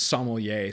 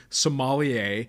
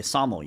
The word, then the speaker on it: sommelier: I think for me I always equate it to the African country of Somalia at least in terms of How It's pronounced yeah so when I